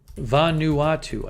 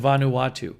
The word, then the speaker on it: Vanuatu: .5 foot tsunami wave observed in Vanuatu, I think is how you say it.